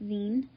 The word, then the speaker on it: zine: saying it wrong apparently it's not zion it's zine so this is my